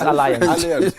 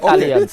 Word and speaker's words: alliance: If you're speaking English, the word is alliance. It's alliance, not alliance.